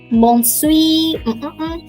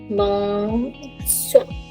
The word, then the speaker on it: bonsoir: Bonsoir. Bonsoir. Okay, Mahmoud. Very close. Yeah. But again, it's made up of two words. Bon, same like bonjour, bon, soir. R is pronounced. R is pronounced.